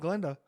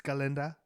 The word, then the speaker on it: Galinda: Wasn't Glenda. Wasn't Galinda. It's Galinda.